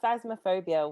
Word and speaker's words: Phasmophobia: Now, Cora, you've been playing I always say the name wrong. It's phasmophobia, which the actual Phasmophobia.